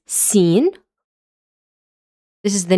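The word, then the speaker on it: سين: First thing the pronunciation this is seen.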